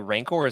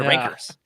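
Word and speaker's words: rancor: Edge stuff he says why are you guys pronouncing rankor correctly what happened to rankers aners y nice little rankers you got there then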